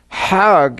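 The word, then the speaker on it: חג: a pilgrim to Mecca Haag is the Egyptian pronunciation hug in Hebrew means a holiday or going around in circles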